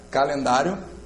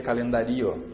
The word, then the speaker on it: calendário: Se eu separasse, eu teria que ouvir as duas vogais bem, seria calendario a palavra. Calendário. Quando eu pronuncio calendário, agora eu já sei ali que o I sempre é semivogal, a não ser que apareça com U.